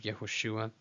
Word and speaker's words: Yehoshua: Yehoshua, translated into English as Joshua.